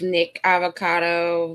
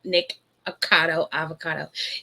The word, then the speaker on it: Nikocado Avocado: Now, I don't watch a lot of Nick Avocado videos, and I know I said his name wrong. Nikocado Avocado. It's so tongue twisty for me.